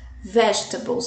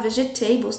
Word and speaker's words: vegetables: Seriam, né, aqui os acompanhamentos, então os legumes, olha como se pronuncia, vegetables, vegetables, não podemos falar vegetables, tá, gente? É vegetables, vegetables.